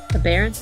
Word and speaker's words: aberrance: I thought maybe it was abhorrence for a second. No. It's aberrance, which I don't know what that is.